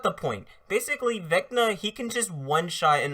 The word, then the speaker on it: Vecna: For one thing, his name is, for one thing, it's pronounced Vecna, but hey, whatever.